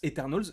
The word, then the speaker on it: Eternals: mais en moins enfin en anglais ça se prononce eternalz moi je me prononcerai